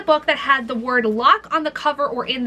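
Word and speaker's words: Locke: Technically this is spelled with l o c k e, but it still counts because it's still pronounced as lock.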